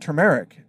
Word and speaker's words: turmeric: There's an R in there, Turmeric, turmeric.